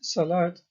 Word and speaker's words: salat: In Arabic, both these words have a silent vowel, in that they are not pronounced, indicated by the red arrow.